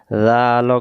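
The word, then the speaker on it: ذ: আরেকবার জাল করে জিহ্বা রাগা থেকে নরম করে পড়তে হয়। একবার উচ্চারণ করেন জাল।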